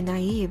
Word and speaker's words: naib: Each Fremen tribe is led by a na yeeb (how to pronounce naib) who reaches his position of leadership